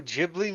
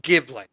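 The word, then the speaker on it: Ghibli: isn't that a studio jibli movie I think so yeah yeah I knew I recognized that name so fantastic wait did I just call it jibli it's pronounced gibl Studio gibl it doesn't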